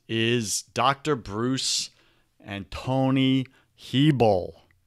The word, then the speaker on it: Hebel: dr bruce and tony hebel it's pronounced heeble people they told me